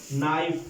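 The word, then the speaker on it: knife: होता है शिखर होता है घटना उसके बाद नाइफ नाइफ में होता है अच्छी तरह से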